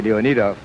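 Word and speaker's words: Leonidoff: think that would uh I really believe it should be leonov but uh we'll we'll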